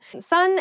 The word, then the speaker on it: son: Son, S-O-N, is pronounced exactly the same as S-U-N, son.